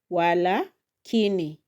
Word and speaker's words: walakini: Then the next word I'm going to put the emphasis on the third syllable la. So it is going to be walakini. Walakini walakini walakini. So that one becomes now a noun. The first one walakini is a conjunction but the second one walakini is a noun which means a defect or a problem.